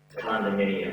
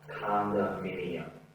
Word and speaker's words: condominium: Condominium. I'll put that one with you as well. Condominium. C-O with a ka.